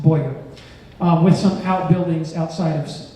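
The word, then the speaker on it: Bowyer: British arrived and that structural cohort would spell Bo ier here but actually spelled the OWI ER and pronounced Boyer with some outbuildings outside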